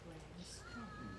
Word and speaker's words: Branscombe: And so tonight you are our very special guest, and you're being showcased here, Branscombe. Did I say it right? Yes, you did.